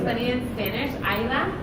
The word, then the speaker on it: Aira: And it's funny in Spanish, aira, like makes more sense. People say it right compared to like aria.